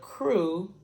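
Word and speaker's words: krewe: the the crew and the word crew for Mardi Gras is spelled k-r-e-w-e-k-r-e-w-e so the crew is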